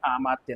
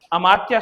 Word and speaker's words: अमात्य: पता होता कि अमात्य होता है आमात्य नहीं। अमात्य शब्द होता है और अमात्य का मतलब होता है मंत्री होता है कि नहीं तो प्राचीन समय में महा अमात्य होते थे इसमें आ का उच्चारण नहीं आना चाहिए देखो इसमें क्या होना